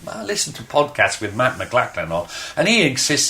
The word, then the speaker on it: McLaughlin: to podcast with Matt McLaughlin off and he exists his name is pronounced mcLaughlin I mean come on